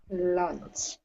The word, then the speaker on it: lunch: using the verbs however be careful of pronunciation of lunch lunch yes don't add the extra vowel sound punch okay gotta be